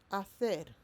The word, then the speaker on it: hacer: And remember, in Spanish, H is, well done, silence. Okay? So, hacer is to do.